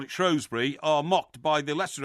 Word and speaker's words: Shrewsbury: yes so in fact you're wrong about Shrewsbury it should be pronounced Shrewsbury oh I'm not well I'm afraid you are why don't you just admit it because if the shrews is the nickname of Shrewsbury Town Football Club then surely you must admit that the local people who live in Shrewsbury pronounce it Shrewsbury right okay uh all